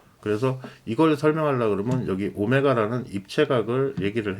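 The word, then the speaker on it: ω: s는 뭐냐 그 다음에요 W 이게 오메가 오메가라고 읽습니다 이게 제가 w가 약간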